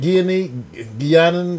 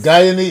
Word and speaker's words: Guyanese: Did I say it right? Guianan? What do you cut? Guyana. Guyanan food. Guyanese. Guyanese. There you go.